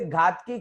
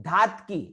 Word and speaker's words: धातकी: से 10 लोग तो घातकी बोलेंगे, घातकी नहीं है, धातकी, धातकी।